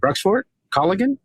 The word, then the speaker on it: Bruxvoort Colligan: I'm going to say it again, Bruxvoort Colligan? Yes, no fear. Just headlong into it and let the pronunciation go where it goes.